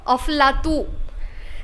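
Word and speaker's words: أفلاطون: went to Arab Arabs they can't say p so they they pronounce p as for and they have a habit of attaching o before so they started calling Plato of lato and they started calling Aristotle arastu okay and from because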